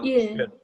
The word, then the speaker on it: 일: So you're just going to take your tongue, oh, and you're going to move it back just a little bit. Yeah, and that's your sound.